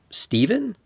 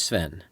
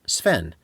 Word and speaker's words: Sven: Stephen? A kid, an operator, a substitute teacher, or a new coworker might say. No, my name is Sven. Seven? No, Sven.